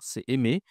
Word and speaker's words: aimer: Attention, ici, je ne dois pas prononcer le R. Ce n'est pas MR, c'est aimer.